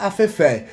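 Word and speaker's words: afẹ́fẹ́: É, os ventos eles são chamados de eh afef. É assim que fala baraó? É afef. Como que é a pronúncia certa? Afé. Afé. sinal no final é o acerto é no último a Fefé.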